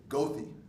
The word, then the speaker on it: Goethe: By the way, if you get a chance to walk around Chicago in the area, there's a street, but they pronounce it Goethe.